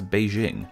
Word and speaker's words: Beijing: In Chinese, this city's name has always been pronounced as Beijing.